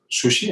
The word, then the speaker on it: sushi: Bueno, pues cuando hablamos de la palabra sola, pues sushi, evidentemente, pero cuando es una palabra compuesta, como inari zushi, temaki zushi, nigiri zushi, entonces la S se suaviza, la sílaba su se suaviza, en este caso con 2 rayitas en el hiragana, y se convierte en una Z sonora, ¿no?